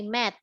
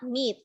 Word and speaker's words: met: this and this one you say met met okay not meet because when we say